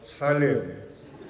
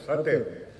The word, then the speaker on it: Satem: I hear my father turning in his grave, being called Salim instead of Satem. It's quite easy to remember. You know the cigarette Salem? Turn the T into L. Turn the L into a T.